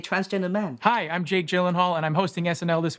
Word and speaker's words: Gyllenhaal: Hi, I'm Jake Gyllenhaal, and I'm hosting SNL this week with Camila Cabello. Gyllenhaal. Your name is pronounced Gyllenhaal. I guarantee you it is not.